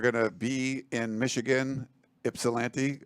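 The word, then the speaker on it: Ypsilanti: to be in Michigan ipsilanti it's pronounced with an i not a y and it's an upper Midwest thing uh starting like 7:30 p.m.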